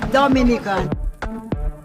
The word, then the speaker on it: Dominica: oh we call it dominican it is spelled d-o-m-i-n-i-c-e it is not dominican republic it is pronounced dominica and is situated between